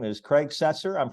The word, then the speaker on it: Setzer: individual guest but uh his name is Craig cesser I'm pronouncing that correctly right yeah and you were